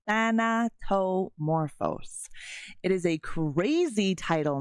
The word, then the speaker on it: Thanatomorphose: yeah than tomoro so if you're having a hard time trying to say it that is how you say it than to morphos it is a crazy